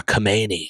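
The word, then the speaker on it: Khamenei: the supreme leader, uh, Kamani, I believe is how you say his name.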